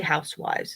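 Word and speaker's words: huswif: or hus fives h-u-s-w-i-f's it's really housewives is how it is pronounced but what it comes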